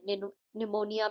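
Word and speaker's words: pneumonia: Knowledge में के silent है। निमोनिया में पी साइलेंट है।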